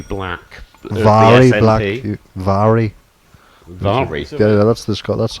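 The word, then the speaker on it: Mhairi: of the more entertaining MPS has been reelected Mari black Vari Vari yeah that's the that's how you pronounce it how is it is that the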